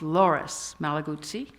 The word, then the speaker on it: Loris Malaguzzi: One comes out of Italy, from a town called Reggio Emilia, and I got the man's name wrong. It's Loris Malaguzzi.